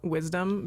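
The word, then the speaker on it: wise_dum: Dum I love it um I pronounce that wisdom but other people yeah very very funny um yeah wise um like my last name and then like the opposite of being wise like the opposite of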